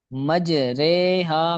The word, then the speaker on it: مجریہا: وہ لفظ ہے مجریہا۔ اس کو ہجے کرنے کا طریقہ یہ ہوتا ہے میم جیم زبر مج، را امالہ واری رے، مج رے، ہا الف زبر ہا، مج